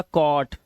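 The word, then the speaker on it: caught: यू आया हुआ है तो इसे पढ़ेंगे कॉ और जो हमारा जी एच टी है इसमें जी एच को हमेशा हम क्या रखते हैं। साइलेंट रखते हैं। तो, हम क्या पढ़ते हैं? सिर्फ टी को पढ़ते हैं। तो, यह हो गया कॉट, यह कॉज नॉट नॉट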